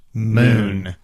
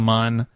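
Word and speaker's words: Mün: i think he's right i think it's meant to be pronounced moon yeah but but that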